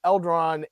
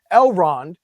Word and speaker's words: Elrond: with uh uh uh eldron and uh yeah I keep saying his name wrong elrond and Prince Dorian we've